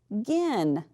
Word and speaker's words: begin: So I'm going to draw my line right here, and I'm going to say B, because my E is long, begin.